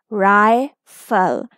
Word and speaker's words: rifle: with the LE syllable, you will break here and the word will be rifle. I will say its long sound because it is at the end of syllable.